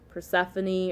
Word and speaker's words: Persephone: Persephone or Persephoron, different ways to pronounce it.